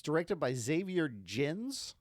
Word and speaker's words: Gens: It's directed by Xavier Gens, G-E-N-S, or Gens, if you pronounce GIF correctly.